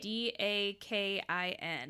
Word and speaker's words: Dakin: D-A-K-I-N. I would say Dakin, yeah.